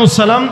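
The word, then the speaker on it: اَلسَّلَامُ: আপনার উপরে উচ্চারণটা বলেন, আসসালাম আলাইকুম। কোন সালাম নাই কিন্তু, মনে রাখেন, বলেন আসসালামু।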